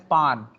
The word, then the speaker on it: pain: इट is known as पान. जैसे हमारा मीठा पान होता है, फ्रेंच पीपल पेन को ऐसे नहीं बोलते जो हम लोग बोलते हैं.